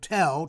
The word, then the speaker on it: tel: There's a Hebrew word, tel, T-E-L, as in Tel Aviv.